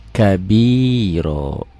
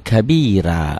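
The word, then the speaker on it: كبيرا: Ini ganti dengan Oya ya kabiro jangan Allahu akbar kabira jangan ada yang salah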